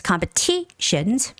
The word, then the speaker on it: competition: always tell you guys when there's Tio n the syllable right in front of T has the stress right so it's competition competitions and um I